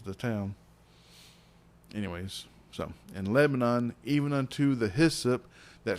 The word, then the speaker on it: Lebanon: close to Nashville, and they pronounce it Lebanon, but it's spelled just like Lebanon. I don't know why they pronounce it Lebanon, but I've gotten into